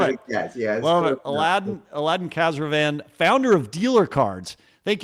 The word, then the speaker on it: Khazravan: Give me the right pronunciation. Like Caravan. Khazravan. Like Caravan. Love it. Yeah, love it. Aladdin Khazravan, founder of Dealer Cards.